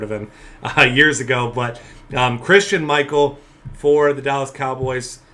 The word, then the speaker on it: Christine: name as how it looks like it's actually pronounced. His name's not Christine. I thought that for the longest time when I first heard of him years ago. But Christian Michael for the Dallas Cowboys.